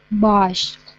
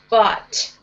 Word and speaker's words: bought: Bosch. Bought. Bought. Yes. So the GH is silence is just bought.